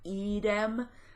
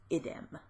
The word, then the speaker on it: idem: So the masculine has a long I and is idem, and the neuter has a short I and is idem.